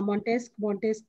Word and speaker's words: Montesquieu: Ma'am, how we pronounce that? हाँ Montesquieu ठीक है Yes, ma'am.